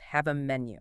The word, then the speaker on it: Havamenu: It's pronounced Have a Menu. Have a Menu.